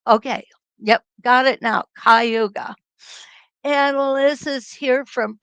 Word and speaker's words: Cayuga: Cayuga.